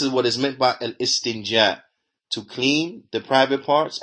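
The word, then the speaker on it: الاستنجاء: He says, and al-istinja, that is well known. The istinja, that is well known. Naam, al-istinja. And this is how it should be pronounced.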